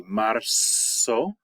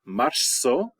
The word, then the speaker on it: marzo: Okay, all Z's in Spanish are pronounced like S's. So it would be marzo, marzo, abril.